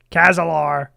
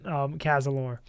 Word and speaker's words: Kazalor: Kazar Kazalar. There's a lot of ways people mispronounced um Kazalor.